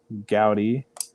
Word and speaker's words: Gowdy: Might have heard of one of them, Miss Gabby Gowdy, coming on the show. Is that how you pronounce that?